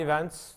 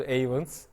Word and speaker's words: Ayvens: dinliyorum Çok sağ ol E iens Türkçe telaffuzu bu İngilizce telaffuzu avens eee iki tane dünyanın